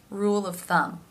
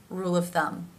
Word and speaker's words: rule of thumb: make that V sound rule of thumb rule of thumb you might find that you're here in practice people pronouncing it almost more as an F rule of that's because